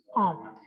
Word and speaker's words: an: J'ai 30 ans. Es aquí, a ver, volvemos acá. Entonces, an, esto de años, es an, como una nasal.